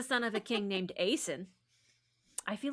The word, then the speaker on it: Aeson: A E S O N, how would you pronounce that, friends? Yeah, Aeson. Like what A son, a son, Aeson. Yeah. Jason and Aeson, rhymes with Jason.